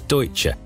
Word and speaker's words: Deutsche: cowboy these financial gunslingers had to be trained to correctly pronounce deutsche apparently they've been telling people they worked at douche bank the americans also instilled